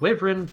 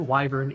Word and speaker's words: wyvern: the twin head WIP I said wyin previous viously that is not the correct pronunciation the twin head wyvern is resistant to fire